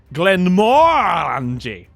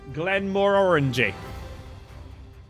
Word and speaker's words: Glenmorangie: Glenmorangie. Rhymes with orangey. Glenmore orangey.